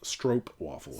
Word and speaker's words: stroopwafel: place and Nancy says it's pronounced stroke waffle she's ruined my world in her comment that says it's not spritz stroke waffle so I think that